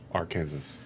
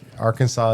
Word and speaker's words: Arkansas: It's like uh so so Kansas is the English pronunciation of the same Native Americanbased like culture and then ar Arkansas is the French.